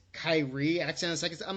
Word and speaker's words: Kyrie: and over he's like no it's Wendell and Kyrie Irving it's like it's Kyrie a tennis I'm like come on it's like